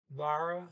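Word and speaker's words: været: The T is completely silent, so you just pronounce that E like a trailing E.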